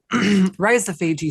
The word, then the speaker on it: rhizophagy: Did I pronounce that right? Oh, the rhizophagy cycle.